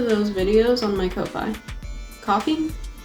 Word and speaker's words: Ko-fi: Coffee? A friend told me it's coffee, but then why is it spelled like that?